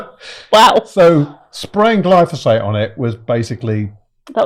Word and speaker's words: glyphosate: In the UK, the same thing I can't say, glyphosate is sprayed on five phosate phosate glyphosate is sprayed on 5.4 million acres of land every year.